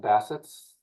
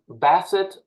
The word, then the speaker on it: Bassett: big uh let me Basset right is how you say your last name I've heard other people say B like a dog yeah like yeah Basset would be French it's Basset B betet